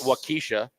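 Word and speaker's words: Waukesha: There's um Wakaaw, which everyone cannot pronounce. Does it speak to your Wakaaw? They call it Wakisha.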